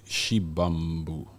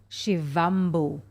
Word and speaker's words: Shivambu: Floyd shibambu do you know how to say his name it's Floyd shivambu shivambu shivambu yes with a V Floy shivambu yes this